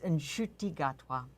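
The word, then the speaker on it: Ncuti Gatwa: We want a correction on the pronunciation of the gay star of Doctor Who. Oh, well, my understanding was it's Nshuti Gatwa.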